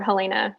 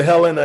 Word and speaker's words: Helena: from helena my apologies if you come to helena and say helena they'll say oh oh there's another down south or east coast or whatever so let's start pronouncing helena i want y'all to